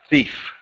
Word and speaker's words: thief: do me a favor pronounce the word Thief th th not thief thief good good job awesome